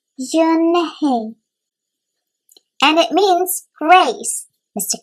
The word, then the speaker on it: Unhei: Yes, it's pronounced Yunhei. And it means grace, Mr. Kim added. Yunhei, Joy said slowly, and this time perfectly.